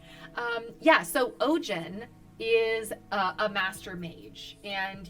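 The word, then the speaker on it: Ogion: Anyway, so Ogin. Wait, what do you call him? Ogin? Ojin.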